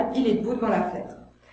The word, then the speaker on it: fenêtre: Et enfin, dans « Il est debout devant la fenêtre », là je fais tomber tous les E muets.